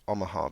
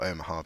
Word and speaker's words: Omaha: I believe it was Omaha Beach or omah har beach however you want to pronounce it and um yeah